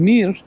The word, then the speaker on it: Mir: Mir card and Mir mir's a a Russian word that means world world card and Mir as it's pronounced in Russian Mir uh is Russia's